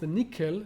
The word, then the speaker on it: NCCL: communication libraries like nccl which is pronounced nickel which is a library